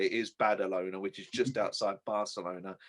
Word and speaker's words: Badalona: in spain in battle owner and i'm not mispronouncing is badalona which is just outside barcelona just to add